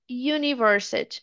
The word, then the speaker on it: university: Agora se eu quero falar essa daqui, ó, é u também, mas o som é completamente diferente. É universit university. Parece que eu tô falando o y do you, né? Do do você. University.